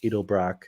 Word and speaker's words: Edelbrock: 2gr fe so 3.5 liter v6 with an edelbrock is how you say it supercharger edelbrock four